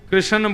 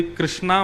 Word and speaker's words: कृष्ण: बंधुओं कई लोग इस नाम को अशुद्ध बोलते हैं। कई लोग कृष्ण बोलते हैं, कई लोग कृष्ण बोलते हैं। कोई कृष्णा बोलता है। भगवान का नाम शुद्ध उच्चारण करो। नाम क्या है? कृष्ण।